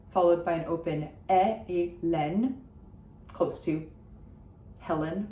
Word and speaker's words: Hélène: So it's E, a closed E, followed by an open Hélène, close to Helen, right?